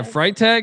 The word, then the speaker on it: Freitag: Yeah, Freitag. Freitag? Freitag. Freitag. It's German.